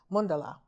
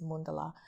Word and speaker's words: mandala: and explain to them there's a mandala or mandala as everyone says but the pronunciation in Sanskrit is mundala um it's amazing what